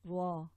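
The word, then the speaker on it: ر: And you have to be careful with this this letter, because we do not want to trill the ra too much. What happens sometimes when you focus too much on the ra, it can sort of trill and give too much of a roll, and that's not right.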